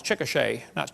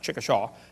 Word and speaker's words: Chickasha: 2005 textbook, and I pronounced it wrong, it's Chickasha, not Chickashaw, Chickasha, Oklahoma.